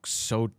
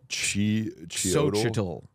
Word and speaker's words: Xochitl: Xochitl. Xochitl Galvez. I think it's like chi when you... Oh, okay. With the X.